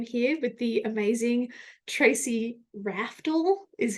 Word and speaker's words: Raftl: I am here with the amazing Tracy Raftl, is how she told me to pronounce her name. And because in my Australian accent, I say Raftl, and she's like, that doesn't sound right.